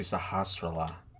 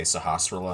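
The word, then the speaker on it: Sahasrahla: sahasrala two pendants remain i always found his name was weird i could never pronounce it but until recently when i heard someone say sahasrara and i'm like oh that's how you say his name i could have just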